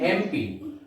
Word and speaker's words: MP: My father is an MP. Although the letter is a consonant, that is N, yet I have used article N because when we pronounce this letter M, the sound begins with a vowel A, and that's why we